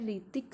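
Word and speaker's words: Hrithik: जो famous actress है ऋतिक Roshan student इसमें ऋतिक की स्पेलिंग आपको ढंग से चेक करनी है जो ऋतिक में ऐड साइलेंट होता है और स्ट्रेट किस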